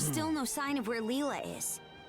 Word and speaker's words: Lila: We've climbed all this way, but there's still no sign of where Leela is. I called her Lyla because I didn't pronounce her as Leela in here.